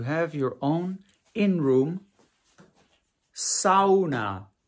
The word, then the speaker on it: sauna: your own in room SAA it's not pronounced sauna no no no you have to say it like the Finnish do which is SAA look at that your